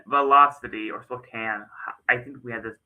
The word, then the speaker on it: Spokane: Based off of the silent e. Yeah, I teach first grade. I know this stuff. Based off the e at the end, it's making the a say its name. The mama e. So, it phonetically Spokane, but I'm not going to say that it's officially Spokane because Louisville is not phonetically correct.